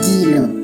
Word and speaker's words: dilo: Things is dilo in Setswana. That's how you say things.